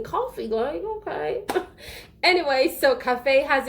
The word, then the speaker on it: café: So cafe has an accent on the E as well. That's why it's called cafe and not cafe or calf, Anyways, another word I